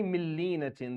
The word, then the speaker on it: من لينة: So when we say millinatin, the noon for the word min is not pronounced at all. Like it doesn't exist at all. You go from the mim to the lam.